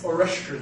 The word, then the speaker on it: Oreszczyn: Oreszczyn is how it's pronounced.